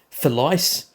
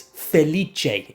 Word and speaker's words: Felice: I've also called certain tanks incorrectly but felice. Come on, bro. It's feliche.